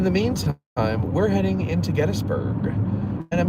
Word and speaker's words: Gettysburg: That's not how you spell it. It's C-O-F-F-E-E-E-E-E. There's like 7 E's in that one. So, yeah, it's Gettysburg.